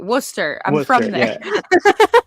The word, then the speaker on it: Worcester: Then I was gonna say it right, Worcester.